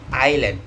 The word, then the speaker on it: island: They may say land in Indonesia but in English we have to say island with silent silent as island not. This happen because Indonesia and English has different pronunciation has different sounds to pronounce it between